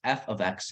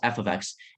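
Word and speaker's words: f(x): represents first of all it's pronounced f of x not F times x because some people might look like C at the parentheses and think it's times but it's actually pronounced f of x and it basically means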